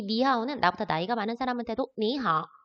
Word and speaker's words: 你好: 이때 삼성. 표기는 삼성이지만 삼성이 왔을 때 앞에 있는 거 이성으로 올라가는 부분만 발음해 줍니다. 니하오 라고 발음되는 거 기억해 주세요.